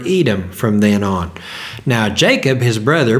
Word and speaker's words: Jacob: name red or Edom from then on now Jacob his brother pronounced Yakov had also had a name to it it